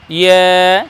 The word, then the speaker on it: ইয়া: করার সময় বলবো ইয়া ইয়া, জিহ্বার মধ্যখান আর তার বরাবর ওপরে তালুর সঙ্গে লাগিয়ে বলবো ইয়া, তাহলে আমাদের ইয়া উচ্চারণ হয়ে যাবে।